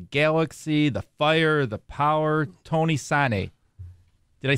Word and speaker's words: Tony Sanneh: He played for DC United, the Galaxy, the Fire, the Power, Tony Sanneh.